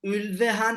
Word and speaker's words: Ulveham: I guess the right pronunciation is Ulveham, something like that.